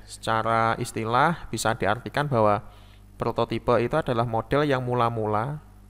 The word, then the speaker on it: prototipe: Prototype sendiri dari istilah bahasa Inggris ya, prototype, kalau di bahasa Indonesia kan bacanya prototipe.